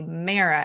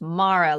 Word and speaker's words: Mara: So for Mara, I wanted to say Mara, and then I had to be like, no, it's Mara.